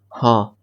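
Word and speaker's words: हाँ: Hindi yeah okay ha sorry can you repeat ha that's it ha ha ha yes ha if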